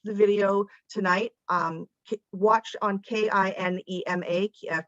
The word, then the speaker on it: Kinema: video tonight, watch on KINEMA, Kinema, I think is how they say it, because I know there will be other screenings over the next few weeks. But Cinema, Jordan, it's cinema with a K.